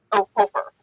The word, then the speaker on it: Hofer: Hofer, like the Hofers.